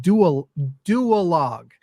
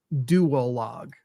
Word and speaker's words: Duologue: Duologue. I need the 2 syllables of dual, because it's easy to go duologue. Too easy.